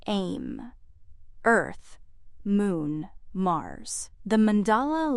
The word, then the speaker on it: EMM: cli book is titled em pronounced in short as aim earth moon mars the